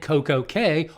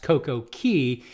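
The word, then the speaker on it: CocoCay: celebrity silhouette celebrity added Coco K or should be pronounced CoCo Key in April of 2024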